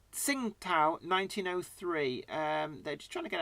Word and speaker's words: Tsingtao: that name it since I learned how it's pronounced Tsingtao since i i i always loved Tim pal